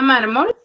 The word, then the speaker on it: mármol: voy aar la palabra mármol uno porque dice su compañera queene mayor fuerza de voz en la penúltima sílaba pero también voy a